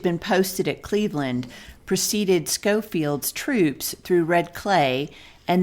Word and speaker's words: Schofield: By the by, but since the last episode, it's been brought to our attention that the commander of the Army of the Ohio's last name isn't pronounced Schofield, but rather Schofield.